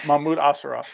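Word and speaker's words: Mahmud Asrar: And is it Mamu Asrad doing the art on this? Or Jess is the pronouncer of words. Jess, how do you say that man's name? 50% off. Perfect. Yeah, Mahmoud Asrar.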